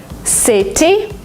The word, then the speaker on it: city: something in American English if you have a letter T in the middle of a word sometimes you pronounce it as d letter letter letter because it's faster because it's smoother City you don't say it